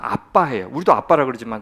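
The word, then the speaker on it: אַבָּא: 아바라고 하는데 아바가 아니에요. 정확히 발음하면 아빠해요.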